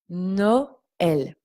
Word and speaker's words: Noël: Quand il y a un tréma, nous devons prononcer les deux voyelles de manière séparée. Noël.